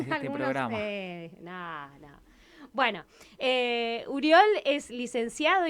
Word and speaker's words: Oriol: Nuestro invitado del día de hoy es Uriol. Para los argentinos tenemos que aclarar que Uriol se escribe Oriol.